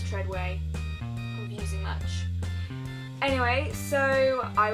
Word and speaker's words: Treadaway: It's spelled Treadaway, but apparently it's Treadway.